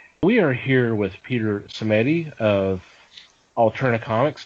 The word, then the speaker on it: Simeti: are here with Peter cedi of alternate Comics did I already butcher the name I'm so sorry if I did no that's right that's that's fine it's you pronounced it correctly yeah yay I did